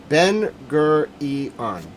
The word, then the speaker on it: Ben Gurion: Ben Gurion. Got it. Thank you. My phonetic pronunciation needs some help sometimes.